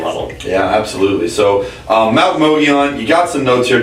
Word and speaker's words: Mogollon: Which Mogollon is spelled M-O-G-O. Oh, we got power outages. We're in trouble. M-O-G-O-L-L-O-N, Mogollon.